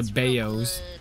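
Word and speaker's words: 包: is a is a baoz it's called it's pronounced bao by the way for all all the non-chinese out here one time i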